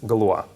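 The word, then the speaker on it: Galois: discuss what's called the Galore random generator okay just in case these reads as Galore it's impossible to like guess the correct pronunciation of this word because he was French okay um now um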